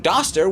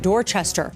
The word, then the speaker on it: Dorchester: But calling this town Doster will reveal you to be a newly arrived foreigner who mistakenly thinks they've got the hang of things because this one is indeed just Dorchester.